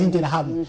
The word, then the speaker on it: Interahamwe: Les Interahamwe, ou encore d'autres, c'est comme ça qu'on prononce en Kinyarwanda, les Interahamwe.